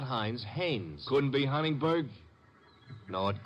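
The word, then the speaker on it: Haines: I what did you say his name is hannes h a i n e s oh oh Hanes yeah do you know him unless your fell named Hines used to fish out no no not Hines hannes couldn't be Huntingburg no it couldn't be the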